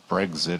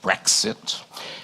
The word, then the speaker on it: Brexit: It gives the pronunciation of Brexit, which is not like Breakfast. It's not Brexit, it's Brexit.